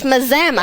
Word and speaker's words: Mazama: cast we are in Mazama that's right Mama we're in Mazama M but Mazama Washington not don't be confused with Alama not maama it's Mazama that's right rhymes with pajama we yes and we